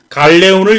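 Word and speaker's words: galeón: 이게 에스파냐 발음으로 이제 갈레온이라고 부르는 겁니다.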